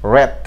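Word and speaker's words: wrath: এর last one মানে last যে ওয়ার্ডটি সেটি হলো ডাব্লিউ আর এ টি এইচ, র্যাথ। ডাব্লিউ এ ডাব্লিউ আর এ টি এইচ, র্যাথ।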